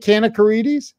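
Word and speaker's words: Kanakaredes: Is it Kanakarides?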